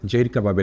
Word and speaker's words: জহির কাবাব: যে জায়গাটিতে রয়েছি এটি জহির কাবাবের একটা আউটলেট। আমরা বাংলা ভাষায় বললে জহির কাবাব, আর এখানকার পোল্যান্ডে বললে জাহির কাবাব, কাবাব মানে উচ্চারণে একটু ভিন্নতা আছে।